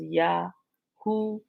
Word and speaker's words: Yahoo: So people spell it different ways, but the proper pronunciation is Yahoo or Yahoo. Well, some people enunciate it like that, Yahoo. So you can make sure you get the ooh sound, right?